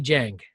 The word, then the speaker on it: Jahng: I always say Jahng.